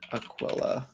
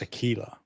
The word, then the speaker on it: Aquila: Battle engine Aquilla, I believe it's pronounced Aquila.